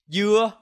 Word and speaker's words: dưa: For example, dưa means melon, but dưa means pineapple, and dưa means coconut.